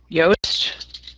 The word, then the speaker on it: Yoast: spell that are you yast yast why it's like toast with a y yeah that's it awesome